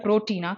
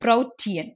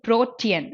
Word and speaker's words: protean: Okay, so இந்த word எப்படி pronounce பண்ணுவோம்? நம்ம சாப்பிடுற புரோட்டீனா கிடையாதுல, இட் இஸ் ப்ரோட்டியன்.